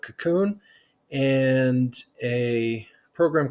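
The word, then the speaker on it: Kakoune: i just type sudo apt install and then cocoon which is spelled cac get this a little bit bigger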